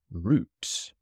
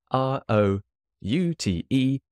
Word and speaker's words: route: the beginning of the root this might be a British American pronunciation difference so o sorry r r o u t e root the bus route uh is that how